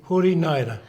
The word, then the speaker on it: Hori Naera: Hori Naera.